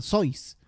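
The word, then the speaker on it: Seuss: y también literato bueno seus éste se escribe no se produce a sus algo así aunque en realidad está mal pronunciado porque él es de ascendencia alemana entonces en la licencia sois doctor sois pero en inglés doctor sus le dicen bueno pero bueno l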